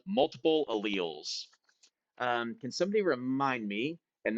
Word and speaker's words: allele: So it looks like you would say it allele, but people say it allele.